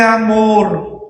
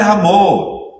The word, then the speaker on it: amor: Dios es amor. Dios es amor. Ni la pronuncian al final. Dios es amó como que fueran dominicanos.